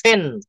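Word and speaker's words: pen: I need a পেন ওরা ভুলেও কখনো পেন বলে না পিকে ওরা ফলে ফেন ফেন এই দেখেন দেখা যায়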